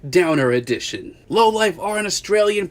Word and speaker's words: Downer Edn: chat about the new low life album it's pronounced downer edition low life are an Australian post-punk band came